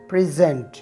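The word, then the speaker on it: present: वैसे तो हम इस लफ्ज़ को प्रेजेंट प्रोनाउंस करते हैं, लेकिन जब आपने इसे एज अ वर्ब इस्तेमाल करना हो तो आपने इसकी सही प्रोनाउंसिएशन प्रेजेंट करनी है, जिसकी मीनिंग है पेश करना।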